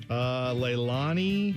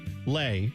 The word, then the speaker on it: Leilani: Leilani. No, that's not how you say it. Lay. There you go. Just say And keep it Lay there.